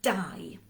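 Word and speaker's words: dau: a number so the number for two is die we have many davids in wales after our patron saints i'm sure saint david david quite often abbreviated to die my father's name is david everyone calls him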